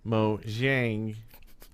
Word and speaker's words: Mojang: I do not know if that's true or not, but the pronunciation of the company name should be Mojang.